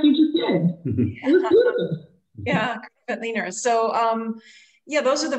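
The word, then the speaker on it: Grüner Veltliner: And how do you say Gruner Veltliner? So, I mean, those are varieties that... Just like you just did. Yeah, Veltliner.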